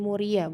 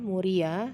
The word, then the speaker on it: Muria: Sunan Kudus yang ke-8 ada Sunan Muria bukan Muara ya karena suka bacanya Salah nih dilihat tulisan ibu ya Sunan Muria hai lalu yang ke-9